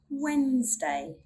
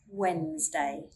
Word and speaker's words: Wednesday: We do not sound the D when it comes before an N or G. Here's some examples. Wednesday, Wednesday.